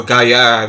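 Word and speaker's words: Gayà: Or Gaia, it should be pronounced, because the accent works over the second A, not the first A.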